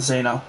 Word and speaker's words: Zeno: Sorry, it's pronounced Zeno, not Zeno. I keep saying Zeno. It's Zeno.